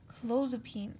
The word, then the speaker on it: clozapine: So the names, clozapine, it's not pronounced pine, it's pronounced peen, but it helps you remember, right?